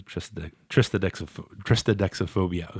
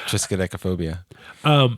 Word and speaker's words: triskaidekaphobia: I'm a tristodexophobia. God, I don't know why I have trouble saying that. You have a pronunciation phobia.